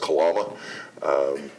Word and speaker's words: Kalama: It's actually modeled after the Pioneer Inn in Lahaina, Maui, because Kalama should be pronounced Kalama. It's a Hawaiian name, and it was named